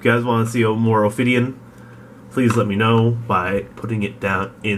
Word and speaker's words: Ophidian: It's Ophidian.